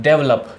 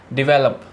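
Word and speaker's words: develop: हाँ, डेवलप। कैसे बोलते हैं? डेवलप। लेकिन कैसे बोला जाता है रियलिटी में? डिवेलप।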